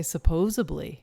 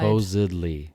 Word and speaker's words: supposedly: supposedly who says that supposedly kinds of people say supposably no yes nobody we know i want you to listen for these supposedly they're being said far and wide supposedly is of course the right way to say it but